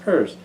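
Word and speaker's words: Peirce: I think it's spelled like Pierce, but it's pur pronounced purse.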